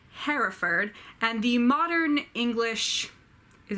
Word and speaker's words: Hereford: county is called Herefordshire but for the meter it works better if you do the two syllable Hereford so I will try